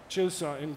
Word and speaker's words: N Vision 74: RN22e가 가까운 미래의 고성능 전기차를 상징하는 모델이었다면, '칠사'로 발음되는 N Vision 74는 장기적인 미래의 그림을 그리기 위한 수소연료전지 기반의 모델이죠.